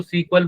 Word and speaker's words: SQL: और उसमें भी हम क्या कर रहे हैं, वो स्ट्रक्चर क्वेरी लैंग्वेज, उसको सीक्वल बोला जाता है, या बहुत सारे लोग सीक्वल उसको प्रोनाउंस करते हैं।